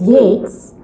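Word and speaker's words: Yeats: Yates and kids are spelled almost alike we pronounce the first as Yates and the second as kids go figure what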